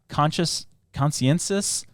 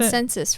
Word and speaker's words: consensus: The group's agenda, originally to prevent another world war, is now defined as bolstering a consciensus. Is that how you say it? Consensus, right? Yep.